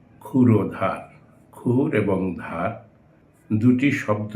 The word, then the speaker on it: ক্ষুরধার: ক্ষুরধার, আমরা এটা ভুল করে ক্ষুরধার উচ্চারণ করি, এটা হবে ক্ষুরধার।